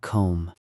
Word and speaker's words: comb: Notice that the B in comb is silent. We don't say comb. Uh, we say comb.